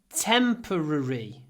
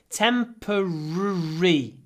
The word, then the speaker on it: temporary: I would say 49 these changes are only temporary for some people this word is difficult to pronounce but if you do lips forward temporary it's much easier temporary tempor lips forward temporary